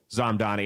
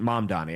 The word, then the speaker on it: Mamdani: And he supported Zamdani. And wait till you hear his reason. Mamdani. I keep mispronouncing his name.